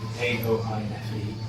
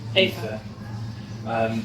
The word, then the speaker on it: Aoife: But Aoife, which I forget is I think how it's pronounced, Aoife, Aoife, was the lover of Manannan's son, Ilbrek, in one story.